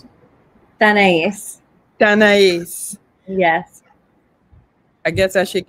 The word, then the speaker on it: Tanais: Tanais. Yes. I guess I should get that. My grandmother's name was Anais. It's exactly like that with the T. Yes. Yeah, Tanais.